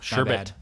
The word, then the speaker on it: sherbet: So but there's only one R in sherbet, America. No matter how awesome the rainbow flavor is, there's still only one R. interesting. So sherbet.